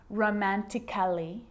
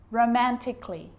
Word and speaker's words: romantically: so I'm not pronouncing romantically musically and logically cut the a out get rid of it romantically musically logically now there's